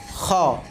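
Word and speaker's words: خ: এরপরে হলো খ, খ। বাংলাতে খা আসছে কিন্তু আমরা উচ্চারণ করব খ, খ, খ।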